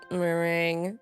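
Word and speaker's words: meringue: Oh, it's mering. Why is there so many letters in the word when you just have to when it's only two syllables?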